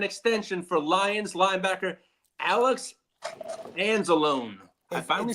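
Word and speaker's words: Anzalone: Now, there is no momentum towards an extension for Lions linebacker Alex Anzelone.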